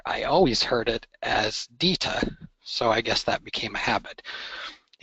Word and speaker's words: DITA: Basically, in North America, most people pronounce it DITA. However, in Europe, most people pronounce it DITA, and that's because most European languages pronounce the letter I with an E sound.